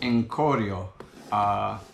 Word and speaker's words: Corio: So I believe the way you pronounce it is Corio.